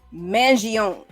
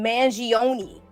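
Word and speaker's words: Mangione: the the media we've heard his last name pronounced by his family as being Manon but the media keeps calling him Manion well there are certain pockets of the media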